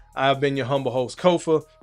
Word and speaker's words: Kofa: I've been your humble host, Kofa, K-O-F-A, not coffee, not Kufu, not Kofi, or any variation thereof. Kofa rhymes with sofa.